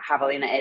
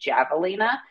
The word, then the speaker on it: Javelina: about the fact that nobody outside of Arizona knows what Havalina is and everybody pronounces it javalina and now we work